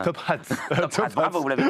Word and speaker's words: Top Hat: Prononcez bien le H aspiré, dites pas Top Hat. Top Hat.